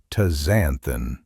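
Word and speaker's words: astaxanthin: Wild salmon contains something called aazanthin. That's a s t a x a n t h i n pronounced as tazanthin.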